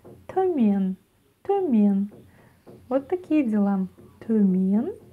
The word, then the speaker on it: Төмен: Төмен, төмен, ударение на е.